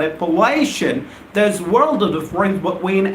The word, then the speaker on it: appellation: here a-p-p-e-l-l-a-t-i-boy and Appalachian most of my students get out wrong and they start pronouncing it as application well I'm not talking about application I'm talking about it palation there's world of the